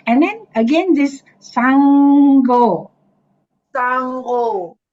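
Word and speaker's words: Saṅgho: s ah yes so the N with the dot is always NG yes Sango correct yes so also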